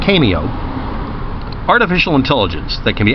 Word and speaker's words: CAIMEO: to this cameo the the Irish pronunciation for cameo and also an Italian location spell CAI a mio cameo artificial intelligence that can